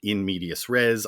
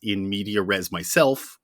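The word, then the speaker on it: in medias res: As for in medius res, I always thought that was in media res, but I was wrong and Matt was right.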